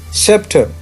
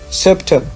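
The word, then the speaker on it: sceptre: बिल्कुल सीधा है ये सेप्टर, तो आपने आर जो है वो नहीं प्रोनाउंस करते, आपको पता है सेप्टर। ये देखें ना, वही उल्टा ये यानी शॉर्ट साउंड है, आह साउंड, सेप्टर।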